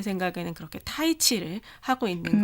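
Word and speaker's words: 太极: 그래서 이번에는 타이치 정보를 준비했어요. 태국권 아시죠? 알죠. 네, 중국에서는 태극을 타이치라고 읽는데요.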